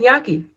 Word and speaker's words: gnocchi: I looked it up and it said gnocchi.